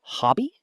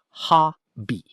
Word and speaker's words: hobby: The word hobby sounds like ha-bee. Hobby.